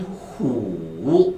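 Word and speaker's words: 虎: 그 다음에 호랑이는 후. 발음 시작.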